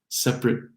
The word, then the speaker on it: separate: So just the adjective separate, separate rooms, separate.